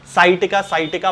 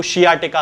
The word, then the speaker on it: sciatica: बीमारी हो जाती है, जिसे कि साइटिका बहुत सारे लोग कहते हैं। हालांकि इसका सही प्रोनाउंसिएशन जो है वो शियाटिका होता है।